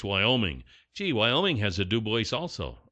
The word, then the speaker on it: Dubois: A dusting of snow was captured on the Wyoming Department of Transportation cams Sunday morning northwest of Duboce, Wyoming. Gee, Wyoming has a Duboce also right along with Idaho.